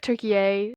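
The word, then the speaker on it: Türkiye: I don't it was like tury is the proper pronunciation I believe because they've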